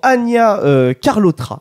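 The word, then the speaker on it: Anya Chalotra: de rive nous avons Ania carlotra je pense que ça se prononce comme ça dans le rôle de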